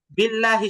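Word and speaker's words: بالله: যায় বাকি থাকে জের এখন আল্লাহ শব্দের লামের আগে যদি জের থাকে তখনই মূলত আল্লাহ শব্দের লামটাকে চিকন করতে হবে জের যেমন নিচের দিকে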